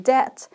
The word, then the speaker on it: debt: Pay attention to the pronunciation. No B. To be in debt.